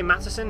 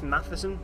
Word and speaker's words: Matheson: boy Charlie Matheson Madison I'm gonna say Madison even though it's Matheson because I can't pronounce it and uh he went